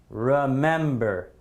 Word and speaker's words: remember: Is the stress in the first syllable? Is it remember? No, it's not. Remember, remember, remember. I would say this is definitely going in column B. I say the stress is definitely on the second syllable here, right?